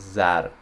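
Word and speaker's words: زر: you can see here it's pronounced as zar and other words for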